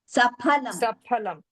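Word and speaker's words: सफलम्: There is no F sound. Pha. Saphalam. Saphalam cha nanyat. That pha is not there in Sanskrit. That pha pronunciation is not there in Sanskritam. Only pha we have. Phalam. That phal is in Hindi. But in Sanskritam, saphalam. It's always phalam.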